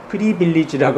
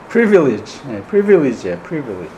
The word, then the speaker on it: privilege: 발음을 좀 잘해야 되죠. 프리빌리지라고 하면 안 되죠. privilege.